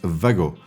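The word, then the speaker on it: WAGO: WGO connectors are a bless. In fact, the right pronunciation is VGO because this is a German invention and there the W is pronounced V.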